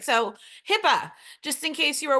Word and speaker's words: HIPAA: All right, so HIPAA, just in case you were wondering, it is spelled with 2 A's, even though it pronounces like it has 2 P's.